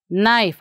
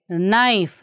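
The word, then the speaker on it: knife: ನೈಫ್. ಆಗಲೇ ಹೇಳ್ಕೊಟ್ಟಿದ್ದೆ ಇದನ್ನು ನಿಮಗೆ, ನೈಫ್. ಇಲ್ಲಿ ಕೇನ ನಾವು ಪ್ರನೌನ್ಸ್ ಮಾಡೋದಿಲ್ಲ.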